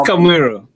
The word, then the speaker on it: Kamuiru: their last name is Kamuiru. Did I say it right this time? I've known you guys forever, and I could never say your name. It's okay. Well, it's Kamuiru, but it's very Kamuiru.